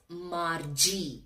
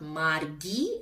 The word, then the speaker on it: Margie: How to pronounce this word is Margie. It is not Margie, it is Margie.